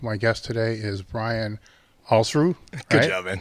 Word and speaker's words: Alsruhe: It's Alsruhe, like balls without the B and kangaroo without the kanga. Alsruhe. Alsruhe.